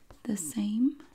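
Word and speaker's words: the SAEM: We have here from, I do not know how to pronounce this. Same, S-A-E-M, the same.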